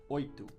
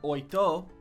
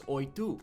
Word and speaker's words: oito: Oito. Now, it's not oito, it's oito because when an O is at the end of a word in Portuguese, it's pronounced like a u like a U.